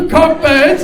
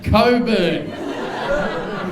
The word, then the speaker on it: Cockburn: he said, "It's pronounced Coburn." And I said, "It's fucking not." I said, "It's pronounced Cockburn." And where I come from, we call that thrush. And then he said, "The CK is silent."